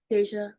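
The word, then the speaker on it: Dasia: I'm pronouncing it that way because that's how she says pronounce it. But there is no way you're getting a J from a D A SI A.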